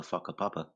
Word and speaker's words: whakapapa: I think he And shut us down when he said they were called the whakapapa. Whakapapa, yeah. And it'd be spelled with a PH.